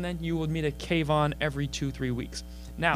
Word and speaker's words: K-Von: every now and then you will meet a cave on every two three weeks now yeah cave on I wrote it like that K - v/o n so people could pronounce it correctly okay and so I wrote